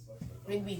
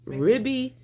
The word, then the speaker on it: Rigby: Rigby. I can do all day. Ribby, Rigsby. Rigby. Well, It's like rugby, but with rig.